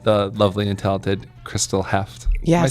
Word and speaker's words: Heuft: It's German, so I think it would be Heuft if you got real serious, but I just go by Heuft. I think you got to get more saliva in there if you're going to get the true Germanic pronunciation.